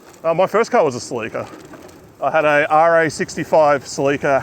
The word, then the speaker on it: Celica: said, "We say silly car." That's it. Silly car. My first car was a Celica.